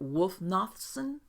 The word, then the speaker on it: Wulfnothsson: just wanted to make sure that I pronounced your last name correctly. Is it Wulfnothsson?